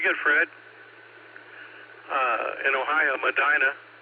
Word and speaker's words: Medina: I think I've been pronouncing it incorrectly all this time as Medina, but maybe because uh we have a Medina, Texas and out out in the Texas Hill Country and they spell the same way. They just pronounce it Medina.